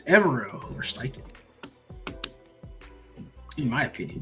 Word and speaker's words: Evero: I think it's Evero over Steichen.